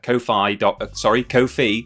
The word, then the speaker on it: Ko-fi: coffers, it can potentially go to me at Ko-fi is how it's pronounced.